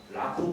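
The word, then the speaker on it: 楽: 관광용으로 짧은 버스 다니는데 그 버스 이름도 라쿠 버스입니다. 그러니까 이 락양한테 그 락을 일본 말로는 그냥 라쿠라고 읽는데 라쿠 버스 부르는 거죠.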